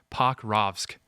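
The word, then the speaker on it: Pokrovsk: Um, Pakravosk, Pac, Pac, sorry, Pacravk, that's how you say it.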